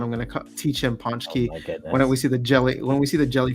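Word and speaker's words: Pączki: All right, well, it's not Poxy, it's Ponch Z. Polish, with a silent with a invisible N.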